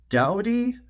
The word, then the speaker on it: Gaudi: new chip that's called Gaudi. It's basically the car brand Audi, but with the G in front of it.